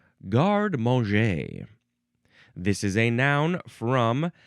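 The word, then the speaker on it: garde-manger: is next we have guard mo. Guard mo. First word is g a r d e. Then there's a hyphen. Then it's the word manger. M- an g- er, but it's pronounced guard mo.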